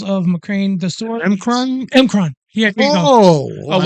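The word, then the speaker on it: M'Kraan: It was the Macrane crystal sword forged from the crystals of Macrane, the sword. Emkron? Emkron.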